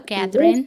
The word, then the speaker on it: Cathrine: I hope I'm pronouncing her name correct. Hello, Cathrine.